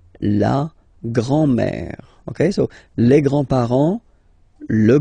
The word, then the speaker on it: grands-parents: Les grands-parents. Remember, you don't pronounce this final S here.